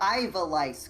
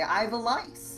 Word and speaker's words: Ivalice: The Ivalice Chronicles. That's probably how you say it. That's probably like when you character diagnosed, you you go to the doctor and you say Ivalice.